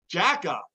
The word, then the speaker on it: Jekaj: Jack-Eye. I would have never guessed that.